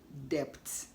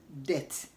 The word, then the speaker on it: debt: weight did you say depth the word is pronounced as death death and not depth but death whenever B comes before T the B is silent it is not pronounced